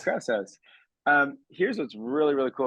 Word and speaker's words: Krause House: Yeah, Krause House. Krause House.